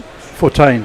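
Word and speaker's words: Fortuin: But it looks like it's Bethl facing up to uh how do you pronounce his name? Fortain. Fortain. That's right, John. And here is Fortaine.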